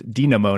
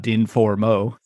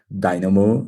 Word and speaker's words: Din4mo: name of your company it's Dino not din foro so apologies no problem ex because we write with the number four the letter A Dynamo and one of the